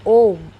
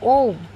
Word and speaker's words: Om: and this is the OM and the OM only because these three letters are Uma a u m pronounced in combination as oh May will be